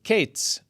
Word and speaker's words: קץ: The term Qayitz, which means summer fruit, and the term Qetz, which means end. Now in the north, as opposed to the south, both summer fruit and end were both pronounced Qayitz.